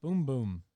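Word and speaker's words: bumbum: I heard the local nickname for the booty is bum bum, pronounced boom boom.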